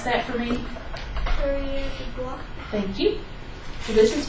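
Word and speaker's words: coureur des bois: Can you pronounce that for me? Courrier de bois.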